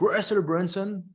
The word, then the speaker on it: Russell Brunson: Donc, Russell Brunson, je prononce à l'américaine, c'est un entrepreneur américain qui est spécialisé dans les tunnels de vente.